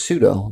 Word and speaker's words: pseudo: me sudo pseudo aha is just pseudo just like I'll sue you right sounds like sounds mostly the same but yeah so uh